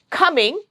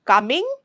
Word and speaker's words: coming: Coming, C has a sound of K there, and K is plosive, so it's not coming, it's coming.